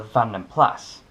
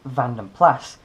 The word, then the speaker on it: Van den Plas: Just a quick note, it's pronounced Van den Plas, not Van den Pla. It's a name of Flemish origin therefore it's pronounced with the S.